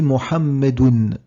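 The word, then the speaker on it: مُحَمَّدٌ: Donc quand je le prononce, je dis Mohammedoun. On entend ce noun à la fin qui est invisible.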